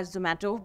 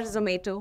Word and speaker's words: Zomato: will use today are zomato because they've got to eat before the kitchen gets set up or zato whichever way you want to pronounce it but having said that